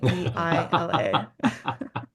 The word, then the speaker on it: Meila: Is that how it's spelled? No, it's Meila.